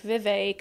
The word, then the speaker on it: Vivek: crispy uh Vivek says it's pronounced like cake Vivek okay now I know